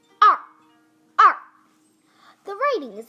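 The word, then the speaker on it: 二: this is number two the pronunciation is like this ah ah the writing is like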